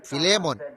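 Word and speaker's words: Philemon: ചിലപ്പോൾ വിദ്യാഭ്യാസത്തിന്റെ കുറവിനാൽ എനിക്ക് ശരിയായി ഉച്ചരിക്കാൻ കഴിയാറില്ല ആയതിനാൽ ഫിലേമോൻ എന്ന് ആരോ പുറകുനിന്നും പറഞ്ഞു അതിന്റെ ശരിയായ ഉച്ചാരണം അതാണെന്ന് ഞാൻ വിചാരിക്കുന്നു ഇപ്പോൾ ഒന്നാം വാക്യം അതിൽ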